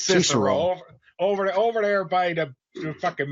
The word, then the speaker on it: Cicero: actually pronounced Cicero. It's Cicero.